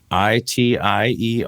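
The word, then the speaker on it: Raitiere: Yeah, it's I always screw it up by pronouncing it Ratieri, but there's no E on the end. There's an E on the end, but you don't pronounce it.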